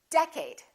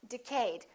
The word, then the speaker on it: decade: did you say decade is it first syllable or second syllable well it's the first one it's decade repeat in the next decade all right A lot of people make a mistake and they say decayed let's take a look